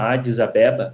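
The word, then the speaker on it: Adis Abeba: Paulo adisabeba cidade aqui se chama adisabeba assim que nós pronunciamos em português eh e o voo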